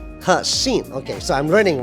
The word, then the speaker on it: Hexin: Did I pronounce it correctly? Hexin. Hexin.